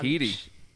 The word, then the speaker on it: Headey: Headey? I think it's Heedy. Heedy? Those crazy Brits and their weird pronunciations.